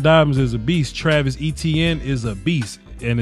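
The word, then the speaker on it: Etienne: is a beast Travis etn is a beast and it's pronounced etn like the letter e letter T letter n e TN is a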